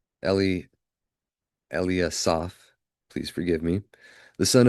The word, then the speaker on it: Eliasaph: of Ekran, Phagiel, there we go; of Gad, Elishaph, Eli, Eliasaph, please forgive me, the son of Reuel, or Raguel.